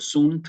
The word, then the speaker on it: sunt: se escuche la t Cuando digo sunt que se escuche la nt Y por qué porque la tema está indicando que se trata un verbo en tercera persona del singular y el sunt me está indicando que